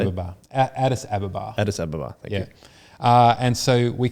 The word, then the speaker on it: Addis Ababa: Addis Ababa, thank you.